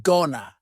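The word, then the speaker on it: gonna: contraction just like Wana Gana is generally pronounced with the schah gon gona you're going to ask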